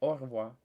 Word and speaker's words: au revoir: But so imagine hawking a loogie and you're saying au revoir.